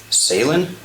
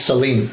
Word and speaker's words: Salin: to Gary and Janet Salin? Am I pronouncing that correct? I think it's Celine.